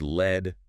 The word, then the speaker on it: lead: And pronounced lead, rhyming with bed.